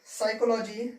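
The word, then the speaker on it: psychology: ठीक है, pneumonia, साइकोलॉजी, psychiatrist. ठीक है, ये होते हैं जहां पर हमारा पी जो है वो साइलेंट हो जाता है।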